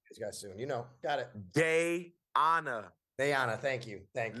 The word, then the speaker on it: Dayana: I always, your wife's name, pronounce it Deanna. Is that Deanna? How you say your wife's name? I don't. Sal. Okay, Sal. got you. You guys soon. Got it. Dayana.